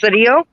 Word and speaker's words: Sidio: son jesse sidio at it's pronounced sadio we were killed by